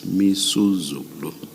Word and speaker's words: Misuzulu: I mispronounced the king's name. It's Misuzulu. Thank you.